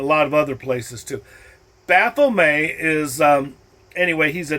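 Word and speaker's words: Baphomet: flashing the sign of baffle May yeah the t is silent a lot of people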